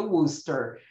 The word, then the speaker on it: Worcester: E sim, aquilo se pronuncia Worcester. Culpem os ingleses.